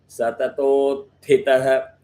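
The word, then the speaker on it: सततोत्थितः: So follow the rule where you have it as a half syllable. You combine it with to, Satatot, that allows you to pick up Thitaha. Thi is hard, ta is soft again.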